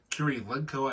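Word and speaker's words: Kurylenko: I know she's it's a Russian name Curie legco I believe is how you pronounce her name uh and the boat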